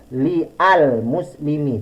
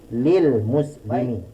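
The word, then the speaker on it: لِلْمُسْلِمِينَ: dia menjadi lilmuslimina jadi tidak diucapkan dengan lyal muslim yg tidak tapi lilmuslimina selanjutnya pengaruh huruf Jar majrur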